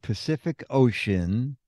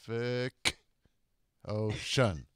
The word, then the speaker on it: Pacific Ocean: Every letter C in the word Pacific Ocean. You got a sa, a ka, and a sha. Really? I didn't think it showed. Pacific Ocean.